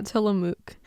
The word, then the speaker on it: Tillamook: Am I pronouncing that right? Tillamook? Yeah, Tillamook.